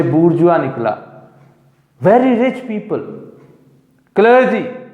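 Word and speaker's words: bourgeois: अब यहां पे उसने एक वर्ड यूज किया है, इसके प्रोनाउंसिएशन है बूर्जुआ।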